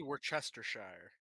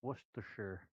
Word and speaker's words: Worcestershire: Here in America, we call it wash your sister sauce.